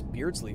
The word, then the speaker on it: Beardsley: Also, I usually have to pronounce it out for other people, said Beardsley. What are you talking about? It's literally spelled Beards, L-E-Y.